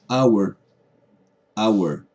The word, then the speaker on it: hour: una hora anna ward se pronuncia ahora se pronuncia hour hour y dice a la word obviamente estamos iniciando